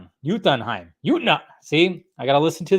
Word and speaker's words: Jotunheim: It's pronounced Jotunheim. See, I gotta listen to the teacher. I gotta listen to my teacher. Okay, guys. Jotunheim.